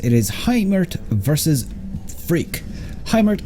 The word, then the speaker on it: Hymirth: Hymirth, I think is how you pronounce it, but anyways, on the bottom left hand side here of Dusk Towers, we've got ourselves Freak, sorry.